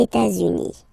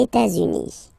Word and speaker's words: États-Unis: Okay, so if we make every links, we'll have it here and then here. Okay, les États-Unis, les États-Unis.